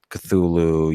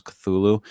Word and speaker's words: Cthulhu: had wrote down like how you're supposed to pronounce Cthulhu and it's not supposed to sound like that it's supposed to be two syllables I noticed that people